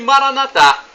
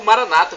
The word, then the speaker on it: Maranatha: o seu pedido e Maranatha Como Nossos católicos falamos ou Maranata como fala o nosso irmãos separados os evangélicos ou protestantes não importa a pronúncia somos todos irmãos e